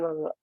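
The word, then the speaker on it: غ: Jadi pengucapan gha yang benar itu dia datar sebenarnya.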